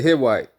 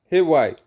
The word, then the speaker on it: Hittite: You could pronounce the T. Sometimes it's silent the Hwite. All right. So, hit white. All right.